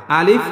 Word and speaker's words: আলিফ: আলিফ এইখানে কোন টান হবে না। আলিফ খুবই তাড়াতাড়ি উচ্চারণ করতে হবে। আলিফ আলিফ।